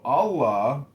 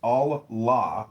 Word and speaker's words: Allah: The god in Arabic will be Allah pronounced Allah or Allah which is simply God with a capital G.